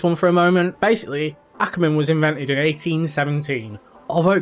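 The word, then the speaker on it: Ackermann: in drifting on CarX it's Anchorman it's Ackerman Ackerman Ackerman read it properly damn it now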